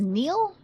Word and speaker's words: Neil: His name's Neil. Okay. His name's Neil. I I thought it was Nile. Okay. Neil. I've never seen Neil spelled like that.